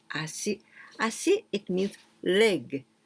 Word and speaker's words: ashi: this is this kanji we can also pronounce acid like this acid i see it means